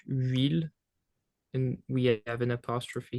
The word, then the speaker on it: huile: Is it because the H is silent? Yeah. So that's something that you have to keep in mind, is that in French the H is completely silent. It doesn't make any sound whatsoever. So it's the real first